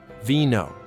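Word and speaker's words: vino: The letter V sounds exactly like B in Spanish. They're the same. Wine. Vo. Veno.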